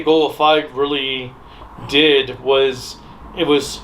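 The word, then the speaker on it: Goggle V: Dai Sentai Goggle 5. I know it's pronounced Goggle.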